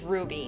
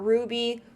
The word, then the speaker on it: RWBY: in the world is ruby now ruby you it's spelt rwby um but it is pronounced ruby because it's based on team ruby and each letter of